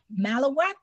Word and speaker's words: malawach: i'm sorry it's gail it's pronounced malawa eastern yeah it's middle